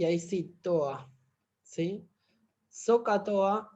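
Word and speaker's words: SOHCAHTOA: Socatoa, la pronunciación, digamos, es Socatoa, pero digamos, la forma de escribirlo es así.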